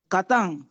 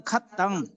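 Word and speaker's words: kataṃ: কাতাং, কেউ কেউ বলে খাত্তাং, খাত্তাং না কাতাং, কাতাং মানে কৃত।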